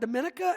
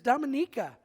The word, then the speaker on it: Dominica: say it this week it's not Dominica as we were saying before we left left it is Dominica and uh it is